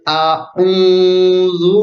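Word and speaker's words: أعوذ: Kalau alif dibaca a, kalau ain ini dibaca u, jadi a-u bukan a-u sama. Jadi bukan dibaca sama, tapi a-u, beda antara alif dan ain itu. Jadi cara membacanya gini. Qul a'udzu birabbil falaq.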